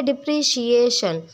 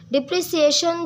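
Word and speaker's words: depreciation: डिप्रिशिएशन ये word एप्रिशिएट जैसे होता है उसकी प्रोनाउंसिएशन होती है एप्रिशिएट, ऐसे ही डिप्रिशिएट है। ठीक है जी। डिप्रिशिएशन डिप्रिसिएशन जो प्रोनाउंसिएशन है वो गलत है, तो आप भी अपनी प्रोनाउंसिएशन दुरुस्त कर लेना।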